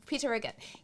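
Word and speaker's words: Peter Riegert: Peter Riggett.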